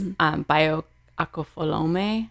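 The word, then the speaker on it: Bayo Akomolafe: Bayo Akofolome is how you pronounce his name.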